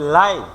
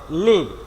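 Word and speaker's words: live: হবে তখন উচ্চারণ হবে লাইভ। ভার্ব হলে লিভ, অ্যাডজেক্টিভ হলে লাইভ।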